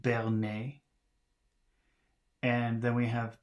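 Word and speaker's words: berner: b we have b-e-r-n-e-r so that should be pronounced Bernay and then we have p a s s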